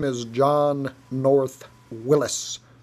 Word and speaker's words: Willys: name is john north willis it is pronounced willis mr haynes has said